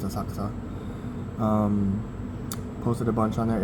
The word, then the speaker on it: Asakusa: I did go to Asakusa today, or Asakusa, if you want to pronounce it that way, but locally it's Asakusa.